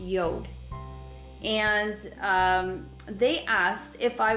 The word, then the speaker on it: Jord: so I was contacted by a company called Yoda now it's spelled the way you see it in front of you J Ord but pronounced Yoda and they asked if I would review one